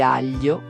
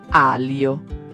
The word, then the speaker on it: aglio: Il suono gn è un abbraccio delicato, non un urto, e il gli in aglio non è alio.